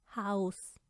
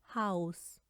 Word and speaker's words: Haus: अब हम बात करने लगे हैं आ ऊ और ए ऊ की। Zum Beispiel Auge, Auge, Haus, Haus, Au, na, Au, Laufen,